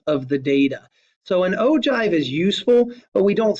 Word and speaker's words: ogive: The last graphical display that we have here for quantitative data is called an ogive, O-G-I-V-E. That's pronounced ogive, not ogive, but an ogive.